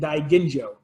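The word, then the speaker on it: Daiginjo: correctly do my and die Ginjo and by the by the way is pronounced with a hard G not gin like the alcoholic beverage as died India with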